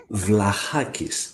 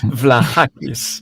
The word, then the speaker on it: Vlahakis: how do you pronounce it's vlahakis it's so easy why you cannot do that vlahakis it's a Greek name so easy to pronounce it vlahakis okay exactly okay so